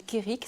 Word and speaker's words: Kerig: Sinon, en ligne, on peut l'acheter sur le site de la FNAC et sur le site de l'éditeur breton qui s'appelle Kérik, ça s'écrit KERIG.BZH, comme Braise, qui veut dire Bretagne.